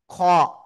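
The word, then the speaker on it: خ: এই যে দেখেন, এই যে কোনো নুক্তা না থাকলে হা, উপরে একটা নুক্তা থাকলে খ, গলার শেষ ভাগ থেকে এই অক্ষরটা উচ্চারণ হবে, একালিপ টান হবে।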